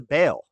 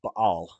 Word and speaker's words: Baal: things but they they give it up to baale it's actually pronounced Bal but um CH uh verse n this chapter